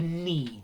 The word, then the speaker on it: knead: thin matchstick like pieces to knead you need the dough but notice spelt with a k you have to press